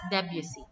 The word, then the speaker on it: Debussy: Okay, so for the American pronunciation, it's Debussy.